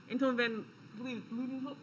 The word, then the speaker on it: Anton van Leeuwenhoek: bunch of Dutch scientists were working on this, Anton van Leeuwenhoek, is how you say it.